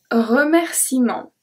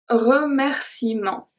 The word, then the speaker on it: remerciement: Un remerciement. Un remerciement. Une promenade. Promenade. Une promenade. A walk. Okay, so did you hear that I did not pronounce the E at all?